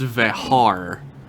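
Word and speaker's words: Vejar: He's directed episodes of Babylon 5, The Dead Zone, Lois and Clark, The New Adventures of Superman, and apparently his name is actually pronounced Vehar.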